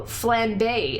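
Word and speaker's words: flambé: Oh, flambe is how it's pronounced.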